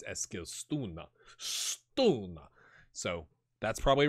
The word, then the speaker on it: Eskilstuna: It's episode 3, and it's AFC Eskilstuna, not Eskilstuna like the fish.